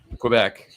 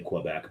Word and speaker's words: Quebec: But I don't think the Quebecois say Quebec, but I think the English speakers pronounce it Quebec. Gotcha. And we heard it both ways.